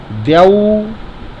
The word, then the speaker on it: द्यौ: फिर बोलना है स्वर द्यौ। देखिए द्यौ लिखा, द के नीचे या लगाएं। यौ, या में औ की पाइए तो औ नहीं बोल कर औ बोलेंगे, द्यौ।